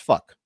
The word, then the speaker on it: phoque: The French word for seal. Seal. Phoque. But if you Isn't pronounce it, it's fuck.